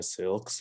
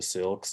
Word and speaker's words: Syilx: And that is in the Syilx language. It's spelled out here.